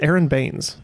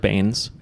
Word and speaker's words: Baines: It's Aaron Baines, the center Bainesy. for the Phoenix Suns. Honestly, I've never heard of him. I've heard Yeah. of Harold Baines, Uh-huh.